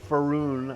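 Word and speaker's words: Faerûn: So it has an overarching view of Faerun, I think is how you pronounce it, for the game world.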